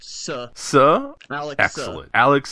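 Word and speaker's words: Tse: it's pronounced Suh.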